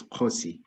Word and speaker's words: Khosi: Khosi, is that how you pronounce it? Hi, thank you very much, Tonya. Yes, it's Khosi.